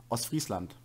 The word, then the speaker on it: Ostfriesland: Ostfriesland.